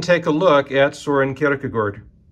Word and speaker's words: Kierkegaard: a look at Soren karakagort which is the way you pronounced it in the Danish or Kierkegaard is the